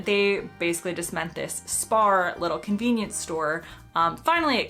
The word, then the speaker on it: Spar: Turns out it's spelled S-P-A-R. I would call it spar. They call it, with their accents, it sounds to my ears like spa.